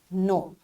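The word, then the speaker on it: know: with the silent letters as w in right and k in no this is our today's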